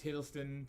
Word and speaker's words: Hiddleston: i said it wrong um i think it's hiddleston yes it is hiddleston i was correct i think it's his uh